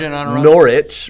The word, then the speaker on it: Norwich: It's pronounced Norwich. The W is silent, so every American does this. Don't care. It's Norwich.